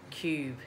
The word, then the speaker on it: Kube: its cube cube as in cube but with a cave and my parents